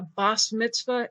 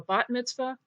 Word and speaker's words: bat mitzvah: heard your parents or grandparents talk about a BAS Mitzvah instead of a bat mitzvah or why you may have seen a th